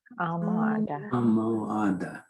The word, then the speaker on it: almohada: Here's an H that's hard because it's sneaky, sitting in the middle of the word. So we're going to pronounce the O, we're going to pronounce the U, we're going to pronounce the O, and we're going to pronounce the A.